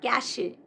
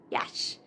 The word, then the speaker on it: cache: This is not cache, but cache. Cache.